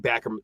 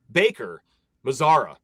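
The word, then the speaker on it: Baker-Mazara: Chad Backer, Chad, if I could say his name properly, Chad Baker Mazara.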